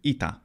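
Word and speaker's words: ήτα: language in this case the modern Greek letter ITA it's pronounced e in fact all of these letters are pronounced e in modern Greek these letters in graph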